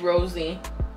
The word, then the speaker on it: Rosé: And next shower gel we have is Rose. Is that how you say it? Rose Champagne. The keynotes are Sparkling Rosé, Citrus Splash, and Apple Blossom. And it's shower gel. It's pronounced rosy.